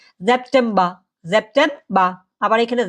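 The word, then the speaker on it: September: আগাস্ট ওকে আর যেটা সেপ্টেম্বর সেটা কিন্তু আমরা সেপ্টেম্বর বলতে পারবো না সেপ্টেম্বর মাসটাকে বলে কি জেপটেমবা জেপটেমবা আবার এখানে জেপটেমবার বলতে পারবেন না হ্যাঁ যদি জার্মান ভাষায় কোথাও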